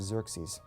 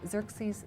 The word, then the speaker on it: Xerxes: So one of these kings in the 400s, his name was Xerxes.